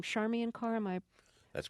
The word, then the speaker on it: Charmian Carr: uh female singer were here is her name charmi and car am i that's correct pronouncing that correctly that's correct okay so this